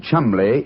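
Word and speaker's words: Cholmondeley: Now, being an American, he had no reason to know that the name Chumli is in no way pronounced the way it is spelled.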